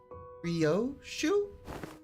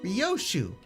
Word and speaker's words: Ryoshu: Uh, Rio. No, that's not how you read those letters. Yoshid, that's how you say it. Rioshu prettier and easier.